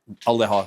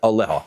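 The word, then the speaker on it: עליה: can't do, ella lahak aleha. So, rather, is it aleh or aleha? It is, just want to make sure I pronounce that right, aleha, right?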